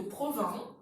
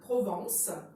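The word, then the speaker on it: Provins: de la ville de province et attention ne confondez pas avec provence alors ça s'écrit avec invest et s ne se prononcent pas c'est ton patrimoine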